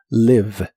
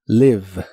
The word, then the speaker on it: live: La i de esta palabra se pronuncia de manera muy corta y suena ligeramente como e live. La v o b chica como la conozcas, es labio dental y vibrante en inglés. La pronuncias como mordiendo ligeramente tu labio y la e del final de las palabras en inglés casi nunca se pronuncia.